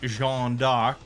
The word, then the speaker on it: Jeanne d'Arc: on Joan of Arc, which in French is pronounced Jeanne d'Arc.